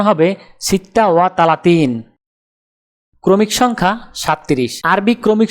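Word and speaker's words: ستة وثلاثون: আরবি ক্রমিক সংখ্যা 36 দেখতে এরকম, উচ্চারণ হবে সিত্তা ওয়া তালাতিন। তাহলে 36 ক্রমিক সংখ্যাটির আরবি উচ্চারণ হবে সিত্তা ওয়া তালাতিন।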